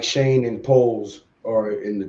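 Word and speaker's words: Schoen: and yes stream so uh that was joe shane's that's how you pronounce his name shane uh i thought it was showing that's how it spelled but it's pronounced shane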